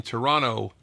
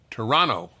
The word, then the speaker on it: Toronto: as you say in Toronto Toronto they don't pronounce the second T you're from Toronto by